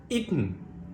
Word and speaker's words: eaten: syllable that ends in the n Sound the syllable is weak when it has the short wowl schwa for example the word eaten I'm not saying eaten and I'm not saying